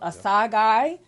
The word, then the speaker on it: Asagai: We had Mr. Asagai with a hard G.